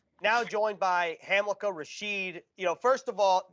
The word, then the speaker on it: Hamilcar Rashed: now joined by hamlika rasheed you know first of all get the name right hamilkar rasheed spelled not the way it's pronounced so glad we got that out of